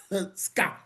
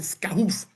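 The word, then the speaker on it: SCAUF: We pronounce it scaroff scoff you know. You know it we try to pronounce it different from Skakuf. Remember Skaku in the days of 2017 18 scakoff but now we scoff which is Southern Cameroon's Ambaz Amazonia United Front.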